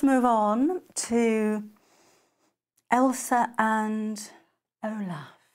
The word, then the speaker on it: Olaf: Let's move on to Elsa and Olaf. I always get his name wrong. I always want to call him Odif, but that's a fabric spray, or Ulfa.